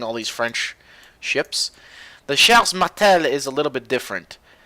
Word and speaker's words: Charles Martel: Now, the Charles Martel, this is how you say it in French. I'm seeing all these French ships. The Charles Martel is a little bit different.